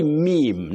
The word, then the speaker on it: meme: You say meme, not me and not me. Meme. The plural. Memes. Not memes and not mems.